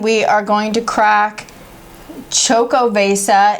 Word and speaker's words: Xocoveza: I had to look up how to pronounce this. Like we said, it's Xocoveza.